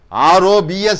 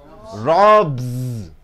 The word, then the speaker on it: robs: clear about it now B plus s is equal to z r o b s how do you pronounce it robs robs the thief robs